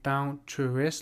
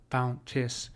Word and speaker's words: bounteous: So now some of you might be say bounteous, like you might be pronouncing this as a three syllable word. It is obvious by how he has constructed this line. He wants this pronounced as a bounteous, or he wants these two vowels here merged into one. So there's no break. This counts as a single syllable.